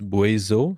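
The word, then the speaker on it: Buaisou: had just gotten from them the name is boizo so that's am i going to even spell that yes maybe yeah well if not b-u-a-i-s-o-u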